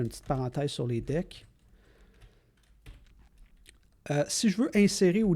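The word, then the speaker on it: deque: Après ça, ça se prononce deck et non pas DQ. Ne demandez pas pourquoi, mais c'est le même dans tous les langages.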